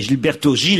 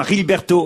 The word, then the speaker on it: Gilberto Gil: mettre l'accent en portugais les J et les G ne se prononcent pas re c'est en espagnol que cela se prononce ainsi merci j'ai essayé de